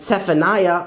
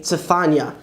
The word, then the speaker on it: צפניה: And instead of saying a funny sounding name like Zephaniah or Obadiah, you'll say Tzefania and Ovadia.